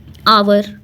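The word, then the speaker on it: hour: से स्टार्ट हुआ है, पर एच जो है वो साइलेंट है, तो इसको हम लिखते हैं आवर, तो ये वॉवेल आ जाता है, इसलिए एन आवर।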